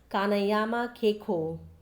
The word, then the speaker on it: Kanayama Keiko: Then the third is Japanese word and it is spoken as Kanayama Keiko.